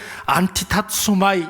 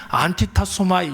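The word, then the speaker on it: ἀντιτάσσομαι: 여러분 여기에서 말하는 대적하다라는 말은 안티타소마이 이렇게 발음을 해요. 굉장히 발음이 어려운데 제가 이거 한 50번 했는데 아직도 입에 붙지 않아요. 안티타소마이 이렇게 발음을 합니다.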